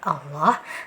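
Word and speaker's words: الله: kita itu maju ya ketika bibir kita ikut maju ketika pengucapan lafaz Allah nah Berarti itu mengandung huruf wau atau huruf w ini yang di dalam bahasa Indonesia jadi kita harus benar-benar pastikan ketika pengucapan lafadz Allah bibir kita itu jangan mantu ya karena di sini tidak ada huruf pauknya tapi yang ada huruf lam ya harus hati-hati lagi seperti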